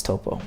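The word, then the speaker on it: Toppo: yes I know it's topo but you said top well that's how you that's how you pronounce it in Japanese just opal because there's an O there it's it's topo and Japanese but it's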